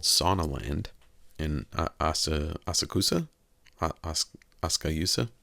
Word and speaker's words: Asakusa: sauna land in ASA asakusa asusa I don't look phonetically it's asakusa but they say it differently anyway uh so is